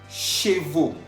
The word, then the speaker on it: chevaux: Chevaux. Chevaux. Estamos viendo que chevaux está escrito al final con la A-U-X. A-U-X, que se pronuncia O.